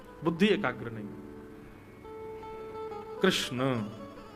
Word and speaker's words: कृष्ण: है बुद्धि एकाग्र नहीं कृष्ण कृष्णा नहीं कृष्ण ठाकुर जी का नाम